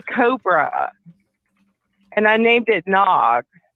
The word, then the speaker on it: Nag: and I named it Nog. Like in Ricky Tikki Tavi, like the Cobra's name is N-A-G, Nag. It's kind of funny, like Nag's head, it's pronounced Nog.